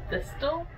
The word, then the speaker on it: thistle: Did you just say thistle? I mean, thistle? Don't pronounce the T.